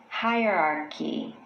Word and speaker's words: hierarchy: However, The correct pronunciation includes 4 distinct syllables. Hierarchy, hierarchy.